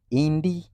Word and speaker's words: ndi: Indi comes from first three letters are N, D, and I. Is that a vowel letter? Yes. And that is I. How is I pronounced according to vowel letters? Yi. Yi. So N, D, and I it's going to be indi. Indi, forming indi.